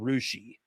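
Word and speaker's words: Russia: It's called Rushi. Um, there is down the road from Milin a town you might pronounce as Greenwich if you're from New England and it's pronounced Green Witch.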